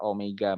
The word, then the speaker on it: omega: Itu adalah bukan dibaca W ya. Ya, mirip seperti huruf W tapi ini agak melengkung ya. Ini adalah omega bacanya ya.